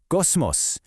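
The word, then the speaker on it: κόσμος: The first syllable is kos. Say it with me. Kos. Now, the second syllable is mos. Try it. Mos. Put it all together, kosmos, cosmos.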